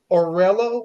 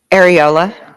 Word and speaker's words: areola: represented the the I don't know how you pronounce it. The orurel or the the the skin that's around the nipple. Orela the areola.